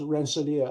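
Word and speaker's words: Rensselaer: Uh but but it's pronounced Rancelia.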